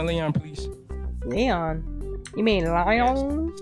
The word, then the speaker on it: Lion: You mean Lion? Yes. Sounds better. It's not Lion. Sounds way better. It's Lion. Leon or Lion? Leon sounds way better, bro. It's Lion.